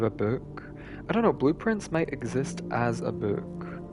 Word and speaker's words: Blue Prince: No, it's blueprints because it sounds phonetically like blueprints. Like, blueprints, because you're drafting blueprints throughout the game.